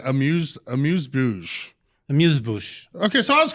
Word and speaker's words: amuse-bouche: I've always said amuse-bouche. Amuse-bouche. Okay, so I was close. You just have a little more accent on it.